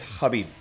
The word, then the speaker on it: Khabib: It's Habib.